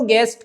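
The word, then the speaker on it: guests: बहुत सारों को गैस यह जो टी है ना यह नहीं बोला जाएगा इससे पहले पहले के टी औरस आखिर का है यह साइलेंट हो जाएगा छूट जाएगा गैस बोला जाएगा अगर प्लूर बोल रहे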